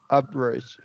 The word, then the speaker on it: average: So I would drop E here. So average. Average, good.